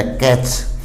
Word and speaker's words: catch: जैसे CATCH, CS से पहले T है तो अपना T साइलेंट है, कैच, पकड़ना।